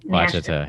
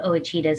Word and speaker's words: Ouachita: Ouachita, yeah. Ouachita Mountains, but I call them Ouachitas because that's what the locals call it. Oh, okay. So, that's cool. Yeah, they pronounce the O.